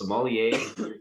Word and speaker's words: sommelier: from culinary school to i'm gonna butcher it this is somalia like the wine is that how you pronounce it perfect yeah we got our